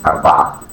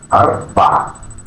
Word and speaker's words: أربعة: It is pronounced أربعة أربعة أربعة.